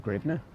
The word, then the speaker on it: hryvnia: is for your currency to Ukrainian hryvnia. Or grivna, if you pronounce it that way.